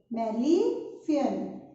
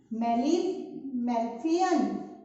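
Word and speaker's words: Malpighian: In the body of cockroaches, it is called as Malefian. Here G is silent. Okay. Malefian.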